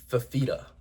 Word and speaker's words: Fifita: Fif- Noah Let me pronounce this right. Noah Fifita.